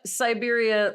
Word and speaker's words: Siberia: And just to be clear, Siberia, like spelled like C-Y, cyber. yeah, not like cyber.